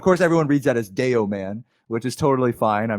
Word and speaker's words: Dayoman: i don't i actually ask for people not to call me yo man because that's even more awkward to pronounce than deo man but uh either way